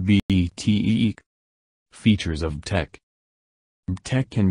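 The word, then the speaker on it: BTEQ: TEC is pronounced BTEEK.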